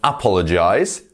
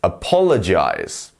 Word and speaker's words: apologize: syllable of the word so it's not apologize it's not apologize it's apologize you see we go apologize we're going up in the middle so yeah just